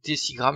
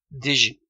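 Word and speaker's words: décigramme: s'écrire 47 dg mais on prononcera bien des six grammes et non pas des jets règles pour convertir en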